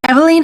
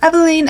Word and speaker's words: Eveline: Eveline hasn't ranked since 1926. This is a French and Dutch name that actually has a few alternate pronunciations depending on the origin, so Eveline, Eveline, or even Evelina.